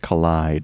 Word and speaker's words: Kaleid: And it also had an instrumental B-side called Collide, and that's K-A-L-I-E-D. And we had no idea how to pronounce that until someone posted an article where Martin Elgore stated that he meant it as in kaleidoscope.